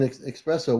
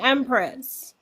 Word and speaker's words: Empress: here um an alien espresso what did you want to share because you've been a guest before with us too well you're getting my name wrong okay it's alen Empress Empress why do I change